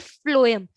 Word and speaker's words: phloem: you can't remember just please remember the pronunciation food and phloem so pH pH pronunciation is in both the cases so both are known